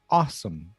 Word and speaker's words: awesome: É awesome, like ah and then some.